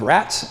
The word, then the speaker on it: rates: Gee, the town have a big problem with rats? R-A-T-S? No, rates. Taxes. The town rates. Rats. That's how it's pronounced.